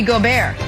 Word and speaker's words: Gobert: to note fun fact in french rudy gobert is pronounced rudy gobert nick who we got